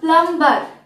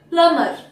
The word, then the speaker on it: plumber: He got the plumber দেখো spelling হচ্ছে প্লাম্বার, কিন্তু pronunciation প্লামার। প্লামার beta silent হবে, প্লামার।